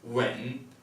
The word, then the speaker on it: 吻: The second character is pronounced when, and it means to kiss.